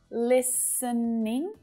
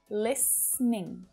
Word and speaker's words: listening: like this one listening so it's perfectly okay to use three syllables listening but to make things quick and simple native speakers will often reduce it down to just two syllables listening listening it's the same